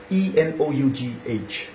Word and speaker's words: enough: For example, there's a word like E-N-O-U-G-H. This is enough. Enough. Remember, both in British and American English, this is enough. Now, if you sound that enough, you are wrong with that pronunciation.